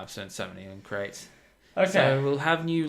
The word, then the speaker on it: Crait: Yeah, it's a crate, and you have to get a crate on it. It's just full of crates. This crate is spelled Crait.